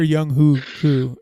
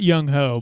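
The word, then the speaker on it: Younghoe: see our that kicker it's young way or young who - it's not young ho but I'd like to call that that's a horrible pronunciation so ladies and gentlemen that is not the way you pronounce his name don't be an ass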